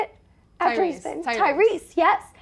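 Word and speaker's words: Tyreese: Tyrese, yes.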